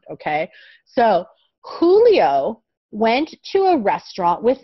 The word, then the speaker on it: Julio: say this name as julio in spanish this is a spanish name in spanish the letter j is pronounced like the letter h okay so anytime in